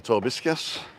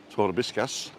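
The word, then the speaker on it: Torviscas: The one closest to us is Playa Torbiscas. And even though it's spelt with a V, it's pronounced with a B, Torbiscas.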